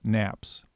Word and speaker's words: NAP: organized the network around 4 network access points, NAPs, pronounced NAPs.